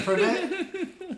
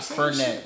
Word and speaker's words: Fredette: Fredette. What did I say? No, not Fernet. It's Fredette.